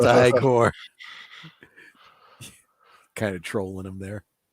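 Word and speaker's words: Igor: frankenstein afraid of frankenstein no it's pronounced high core kind of trolling him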